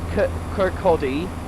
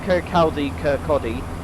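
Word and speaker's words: Kirkcaldy: his land King Horn Kodi not Ki Kodi and marage and then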